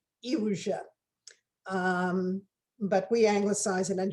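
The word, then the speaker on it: Iłża: a small town called illusia it's spelt i l z a the l is the broken polish l and the z is the dotted polar z so it's actually pronounced eugen but we anglicize it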